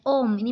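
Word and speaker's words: ohm: kali ini aku akhirnya hambatan satunya Omni bacanya Om simbol hurufnya kayak rumahnya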